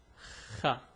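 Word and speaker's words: خ: The pronunciation is Kha. It's a bit difficult to pronounce, but I'll get like special videos on different pronunciation and details.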